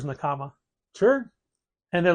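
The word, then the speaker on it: 仲間: The word is pronounced Nakama, Mm. but their store is Nakama.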